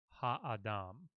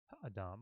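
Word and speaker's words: הָאָדָם: tell you slow down we want you to pronounce the ha sound in full ha Adam don't go over it really quickly Dom like that so haha Dom and they want you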